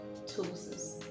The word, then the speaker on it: ptosis: continue so the topic for today's video is ptosis yeah the spelling's as a key but pronunciation starts with t so it's ptosis what ptosis is actually the drooping off the